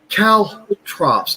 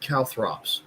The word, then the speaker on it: caltrops: Caltrops, not calthrops.